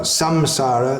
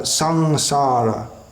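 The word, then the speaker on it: saṃsāra: Generally it's pronounced as a something like the N in the word sing in English. So it's not samsara, sangsara.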